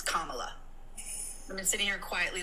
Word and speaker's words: Kamala: can you please say her name correctly it's Kamala I'm been sitting here quietly listening for about 20 minutes her name is Kamala and if you can't say Pro um please